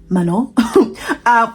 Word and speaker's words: Manon: Obviously, I didn't pronounce her name properly, my bad. Manon.